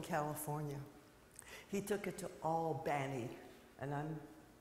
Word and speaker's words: Albany: it to Oakland California he took it to all Banny and I'm saying that on purpose in New York it's Albany but in Georgia it's Albany that's how they